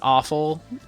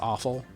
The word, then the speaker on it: offal: I know it's pronounced awful, but I feel like I should always pronounce it like with more of an O sound, so it's like offal.